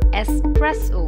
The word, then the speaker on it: espresso: rather and s after E so the correct pronunciation of the word is espresso brew is the action of developing the flavor